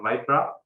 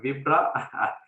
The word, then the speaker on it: Vipra: pleasure learning more about vipra of course i thought the pronunciation was vibra but i'm happy that you rectified that so uh next one